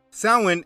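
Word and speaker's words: Samhain: year now the word doesn't look how it's pronounced Salin is a night celebrating death in hell it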